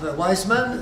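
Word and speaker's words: Weizmann: de ouismans si vousensez si vous parlez du W mais souvent on le prononce avec le V alors wisem c'est un juif simplement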